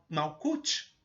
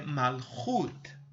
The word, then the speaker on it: Malchut: Algumas pessoas pronunciam Malkut, que seria uma vocalização em português, mas se tiver dentro de um contexto, a pessoa pode entender. Mas a pronúncia correta dessa sefirá é Malchut.